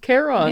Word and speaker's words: Charon: When you look at Charon or whatever, how you pronounce it, it is pronounced Charon Yeah, in Charon. Greek. So it's basically Karen.